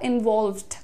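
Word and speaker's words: involved: कह रहे हैं इवॉल्वड इवॉल्वड एमफसिस कहां पर है ओ के साउंड पर है इवॉल्वड सबसे ज्यादा क्या सुनाई देता है ओ सुनाई देता है इवॉल्वड आई वाज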